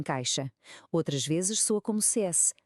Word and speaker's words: caixa: Às vezes soa como um X, por exemplo, em caixa, outras vezes soa como CS, como em táxi.